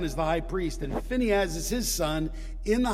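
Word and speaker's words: Phinehas: so what brought the end of the plague we get pinhas that's the I'm just impressing you with my Hebrew pronunciation which is probably bad if some if somebody knows Hebrew is here Phineas as I call him Phineas is what it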